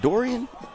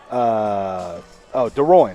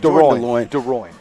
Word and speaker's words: DeRoyne: Jordan, is it Jordan Dorian? DeRoyne. I'm sorry. Yes. Jordan DeLoyne. Sorry about that. DeRoyne.